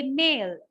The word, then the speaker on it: male: Mele you say male e is silent and so the word ends with the l sound and not e sound and so it is